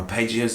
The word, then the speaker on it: arpeggios: Just thought today in this lesson I kind of talk about some arpeggios, or arpeggios as Americans say.